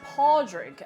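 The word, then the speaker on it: Pádraig: of this bit yeah in Irish um the name Patrick is Paul drink and it would be spelled with a a d now I've got a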